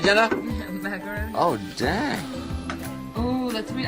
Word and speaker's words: macarons: Marsh the Macaroons, Savannah. Did I say it right, Jenna? Macarons.